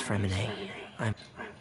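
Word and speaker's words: Freminet: Hello, my name's Fremine. Hello, my name's Fremine. Fermine. The fucking T is silent.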